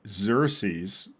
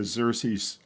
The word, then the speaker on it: Xerces: from the Apache project called Xerces, spelled with an X.